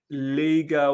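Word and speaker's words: Legia: ready we're ready uh it's pronounced Liga Warsaw sorry man sorry I didn't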